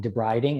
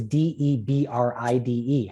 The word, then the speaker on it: debride: one and i'm like debriding and my wife's like why are you saying to brighting i go it's d-e-b-r-i-d-e how do you say it she goes debride and i'm like really